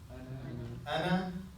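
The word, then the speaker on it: أنا: Ana. Now when you see this ana, okay, it has an alif there. We don't pronounce the alif, right?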